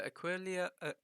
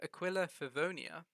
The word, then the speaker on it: Aquila Favonia: my personal opinion the aqualia i'm going to say it right one time in the future the aquila furvonia is the best weapon for